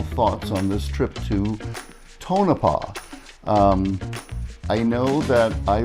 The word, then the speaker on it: Tonopah: a great trip and we figured out how to say the name of the town correctly tonapa tonapa met some really great